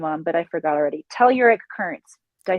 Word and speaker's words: telluric: Telluric currents. Did I say it right? Telluric currents.